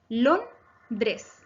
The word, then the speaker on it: Londres: Por último, la palabra Londres se divide también en 2 sílabas. Londres. Es grave porque su acento está en la penúltima sílaba lon. No lleva tilde porque termina en S.